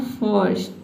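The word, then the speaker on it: first: इस देख सकते हैं कि आर को प्रोनाउंस किया ही नहीं जा रहा है, ठीक है। जो आधा र का साउंड है इसको हम प्रोनाउंस करने ही नहीं रहे हैं, ठीक है। तो आपको क्या करना है, आधा र का जो साउंड है इसको साइलेंट रखना है।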